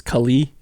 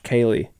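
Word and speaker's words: Kaleigh: Is this at Kaylee? Yes, and you said my name right. What do people think it is? Kylie? Kylie. Oh, Kylie.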